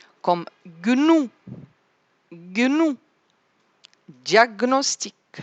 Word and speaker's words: diagnostic: Le G, je vais prononcer le G tout seul et le N tout seul. Comme gnou, gnou, diagnostic, stagner, stagner, gnome, gnome, diagnostiquer, diagnostiquer.